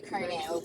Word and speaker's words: colonel: Because how am I supposed to look at COLONEL That's a kernel. and say kernel?